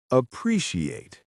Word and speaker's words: appreciate: Appreciate. Listen to the stress. The stress is on the second part.